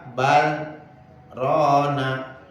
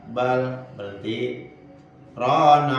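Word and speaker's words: بَلْ رَانَ: Itu bacanya bal, berhenti itu, kalla bal rona, ya ada sakta, berhenti dulu, wajib berhentinya itu. Kalla bal, berhenti, rona ala qulubihim. Soalnya kalau nggak berhenti juga bisa jadi idgham itu barrona, artinya nanti akan berbeda.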